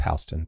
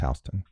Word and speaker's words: Houston: It's Hston, but go ahead. It's not H. It's pronounced Hston.